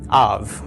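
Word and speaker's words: אב: Av. That's right. The aleph is silent, short a, short a, or A of the comets. Beit without a dagesh is V.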